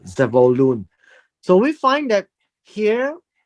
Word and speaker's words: Zebulun: And Elon, the Zebulunite from Zebulun, uh, or Zevulun, he died. Uh, he was buried at uh, Ayalon in the country of Zebulun or Zevulun. That is how it's said in the Hebrew, Zevulun.